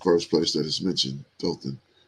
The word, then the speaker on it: Dothan: so we got two wells here, and the pronunciation Dothan there, and it's a place in northern Palestine, 12 miles from Samaria, home of Elijah there. Mm-hmm. So, yeah, this is the first place that is mentioned, Dothan.